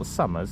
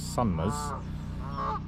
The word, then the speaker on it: Sumners: place called sunmmer pond it's not sumers it's spelled s u n m e r s sunmas uh which is in